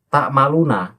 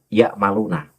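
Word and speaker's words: تعملون: Wakallahu bima tammaluna basiro itu dibaca wakallahu bima bima ymaluna basiro itu dibacanya semacam itu. Nah, kenapa tak maluna kemudian tidak boleh dibaca ya maluna?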